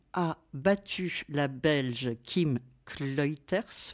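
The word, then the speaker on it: Clijsters: battu la Belge Kim kuters je dirais que ça se prononce comme ça parce que ça doit être flamand elle elle gagnait mais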